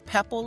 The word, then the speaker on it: Pepple: Pebble. Am I pronouncing your name right? Yes, ma'am. It's Pepple like Apple.